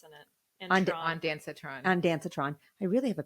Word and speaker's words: ondansetron: One of the most useful tools, which is I think why I had such a good experience, was I took ondansetron or Zofran before I started my prep.